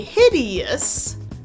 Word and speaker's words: hideous: Even though it might not look like it, OUS is pronounced us, with our famous schwa sound, Keep your lips relaxed